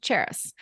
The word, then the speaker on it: Charis: spelling it is the the trick is to think of the city Paris but with a CH cheris and so my website